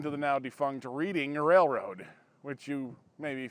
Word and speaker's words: Reading: actually kind of part of the City of Reading Pennsylvania now before you jump all over me in the comments let me say I always thought it was reading what I have read says that the pronunciation